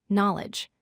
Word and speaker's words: knowledge: Third word, knowledge. The silent letter is K.